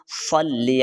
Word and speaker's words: صلی: خیال رکھنا ہے۔ اللہم صلی علی، یہ دیکھیں صاد ہے، سین یا فا نہیں پڑھنا، صلی علی، صلی علی، صاد لام زبر صل، لام زیر لی، صلی، عین زبر ع، لام